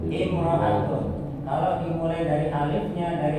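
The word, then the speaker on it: امرأة: Ini apa bacanya? Imrotun. Imro'atun.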